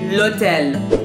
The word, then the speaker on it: l'hôtel: So actually, it's really similar to how we say it in English. In French, we say l'hôtel, and that means the hotel, okay?